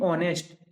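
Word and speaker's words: honest: the silent letter in ऑनेस्ट इसको पढ़ते हैं ऑनेस्ट और इसमें जो एच है वो साइलेंट होता है बहुत ही सभी को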